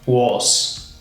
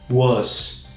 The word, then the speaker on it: was: que é o was Note que você não vai falar was was você vai falar dessa maneira aqui que tá na Trans fonética na tela tá was was com esse som de a meio circunflexo tá esse som meio fechado was was já o